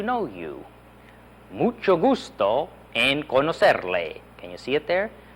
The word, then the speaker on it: conocerle: Mucho gusto en conocerle. Can you see it there? Mucho gusto en conocerle. Notice that middle C is pronounced like an S, isn't it?